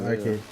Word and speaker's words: RKD: Nah, the owner of the team is RKD Games, and his name is pronounced Arcade.